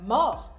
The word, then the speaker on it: mort: E mesmo as que soam mais estranhas para você, por exemplo, na palavra mort, apesar de ter um T, ele não é pronunciado.